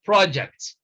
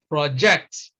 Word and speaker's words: project: that in the example when we use this word as a noun we we stress the first syllable it becomes project if we want to use it as a verb then we stress the second syllable and it is pronounced project the same thing you